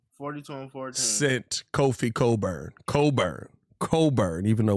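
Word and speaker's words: Cockburn: He single-handedly 42 and 14 sent Kofi Coburn, even though when you look up how it's spelled, it's not Coburn.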